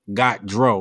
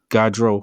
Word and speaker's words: Gaudreau: tried to she she told me how to pronounce her name immediately being the pro-head and i am i just thought you know got dro like do you got hydro hydroponics got drunk